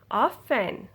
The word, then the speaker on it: often: listen hessen okay now so you cannot hear rt i do not say it soften often fasten listen hasten no you don't ever say tea tea will be silent you don't ever say